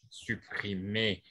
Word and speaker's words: supprimés: risquent d'être supprimés supprimés n'oublie pas que le s ne se prononce pas supprimés s ils morts